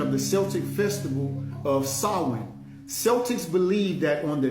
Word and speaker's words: Samhain: So it says S-A-A-W-N. So the S-A-M-H-A-I-N, the M-H is a W-N. It's all silent.